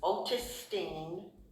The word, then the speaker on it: Otistine: My full name is Otistine. Otis Otistine is spelled O T I S T I N E.